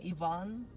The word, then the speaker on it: Ivan: One of them is Ivan, because I really like Russian name Ivan, which is in America usually pronounced as Ivan.